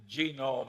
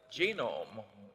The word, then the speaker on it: Genome: Well, I mentioned that one book, Genome. I have a hell of a time putting the accent on the first syllable.